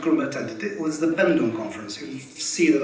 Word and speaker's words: Bandung: conference you see that i spell it oemg which is the which was the dutch spelling at the time and then i come back to the normal indonesian pronunciation of ung it was african and